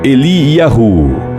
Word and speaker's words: Eliyahu: O nome Elias é pronunciado em hebraico Eliyahu, por vezes Eliá, que tem por significado o Senhor é o meu Deus.